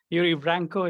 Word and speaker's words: Yuri Branco: for our youtube watchers you can see yuri yuri vranco is that correct have i pronounced that correctly yeah yeah that's right how